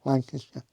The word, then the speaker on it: Lancaster: She's over there in that Lancaster. Lancaster. You have to say it like that, don't you? Lancasher.